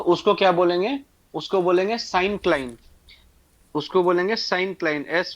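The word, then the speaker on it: syncline: known as sign क्लाइन एस वाई एन सी एल आई एन ई इसको actually sign क्लाइन pronounce करते हैं बट तुम लोग को पढ़ा रहा हूं इसलिए बता रहा हूं इसको साइन क्लाइन भी बोल सकते हैं इज नोन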